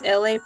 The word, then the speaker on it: Elay: My name is Elay, pronounced like LA, like the city.